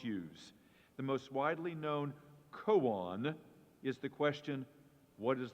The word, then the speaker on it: koan: And your word is koan. Koan. This is a Japanese word. This is something called a paradox in Zen Buddhism. It's an instrument for meditation that the monks use. The most widely known koan is the question, what is the sound of